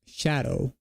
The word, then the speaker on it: Scadu: By the way, Scadu is basically just pronounced shadow.